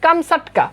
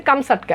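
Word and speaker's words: Камчатка: এটার মূল উচ্চারণ কিন্তু আসলে এমন না মূল উচ্চারণ হচ্ছে কামসাটকা ওকে প্রকৃত উচ্চারণ হচ্ছে কামসাটকা এখন কামসাটকা কি কামসাটকা হচ্ছে রাশিয়ার অন্তর্গত সাইবেরিয়ার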